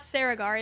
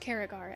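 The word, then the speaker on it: Cerrigar: She runs through Caragar. Turns out it is not Saragar. It is indeed pronounced Caragar, as the NPCs said in the seasonal quest.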